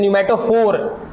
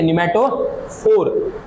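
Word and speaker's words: pneumatophore: इनको इंग्लिश में कहते हैं न्यूमेटोफोर। यहां पे पी साइलेंट है। ठीक है? न्यूमेटोफोर।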